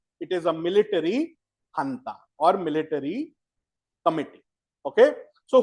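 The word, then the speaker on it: junta: It is called a military hunter. Okay, it's written as ju gua but it is pronounced as ha. It is actually I think a Spanish word.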